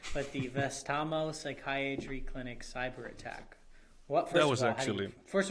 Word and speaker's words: Vastaamo: It's pronounced Vastaamo.